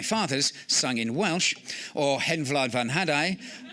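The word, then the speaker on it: Hen Wlad fy Nhadau: sung in Welsh, or Hen Vlad van Hadai, or phonetically My Hen laid a haddock.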